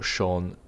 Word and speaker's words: Cian: Sean Brendan, or of course as it's spelled, Cian, because English.